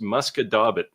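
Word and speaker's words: Musquodoboit: French Canadian, Rick, but this would be pronounced Muscadabit. Your wife would probably say something like Muscat de Bois, except it's a T, not an S at the end.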